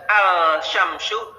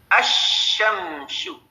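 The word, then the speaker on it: الشمس: Tapi pada kalimat atau kata asyamsu maka lamnya di idghamkan bukan alsyamsu tapi asyamsu ya ada tasdid ditandai dengan tasdid di situ Nam dan ada 14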